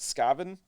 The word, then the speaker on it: Skaven: in his way uh which i think he pronounces it scaven he says say it like scavenger but like it's still skaven if you say sk scavenger sk i don't know i'm gonna say skaven anyway uh but yeah